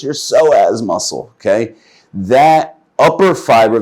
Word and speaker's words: psoas: Psoas muscle. Iliopsoas, it's also called, and it's spelled with a P.